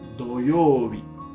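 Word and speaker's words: 土曜日: Khi đọc riêng chữ Hán này, nó được đọc là "Tsuchi", nghĩa là Đất. Lần này là "Do youbi", Thứ Bảy.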